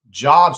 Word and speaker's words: job: Job satisfaction and personal fulfillment are very important to people between 30. Sorry, I didn't say Job, even though it's spelled the same way. Job satisfaction and personal fulfillment